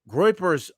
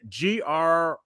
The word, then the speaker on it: groypers: Groypers are a very aggressive meme. How do you spell that? Groypers, GROUPERS. I think that's it. I think it looks like groupers, but it's groypers.